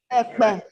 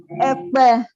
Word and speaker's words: Ekpe: The third defendant is represented by Ekpe. By what? Ekpe. Ekpe is spelled E-K-P-E.